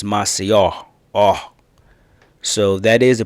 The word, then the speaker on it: Maceió: revisit her this trip she was also the first to correct me in pronunciation of the city Maceo because when I first came here I was saying Macio and she was like